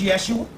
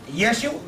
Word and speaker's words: Yeshua: First of all, the word Jesus, when you say it's Jeshua, well, hell, people can pronounce Yeshua, because there's no J in the Hebrew language. Right. People can pronounce Yeshua.